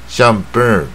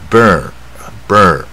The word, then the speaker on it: burn: 以这个是它的母音发音比较不一样 burn 啊。